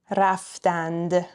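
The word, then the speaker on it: رفتند: So the correct written form is what's in parentheses, raftand. But as I mentioned earlier, in spoken Persian, we drop the d sound at the end and we just say raftan.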